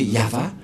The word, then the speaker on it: Yahvah: de de yava et la prononciation de Y h selon les Hébreux c'est yava et personne ne peut